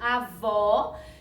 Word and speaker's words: avó: eu já expliquei aqui com a palavrinha avó é isso avó que o sonzinho é aberto e avô com sozinho mas para baixo então é o acento circunflexo porque o sonzinho dele é fechado Tá bem então lembra